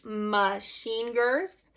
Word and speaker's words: Machingers: gloves here these are machingers okay so apparently you pronounce them a certain way it tells you on the back machiners okay and these do